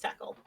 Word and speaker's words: Takl: It is Takl, pronounced tackle.